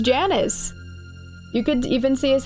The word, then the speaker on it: Janus: Janus is a Roman god, so technically it is Janus. Janus? Okay. Janus would be Latin pronunciation.